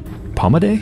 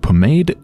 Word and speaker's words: pomade: give me my pommade palma de i don't know what that actually is which means I should look it up I'll do that when I'm back at port it's pronounced pomade and it's a scented